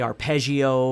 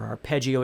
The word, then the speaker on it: arpeggio: we talking about now you might say arpeggio or arpeggio it doesn't matter how you say it but what we're doing